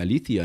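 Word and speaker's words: aletheia: tem a o que o pessoal chama de aleteia mais o certo a pronuncia Alia em grego aía que é a verdade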